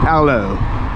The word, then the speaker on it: hello: hello like that looks like you don't pronounce the h is aloe not hello and you're